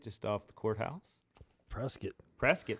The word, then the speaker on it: Prescott: off the courthouse prescott prescott rhymes with biscuit and then in uh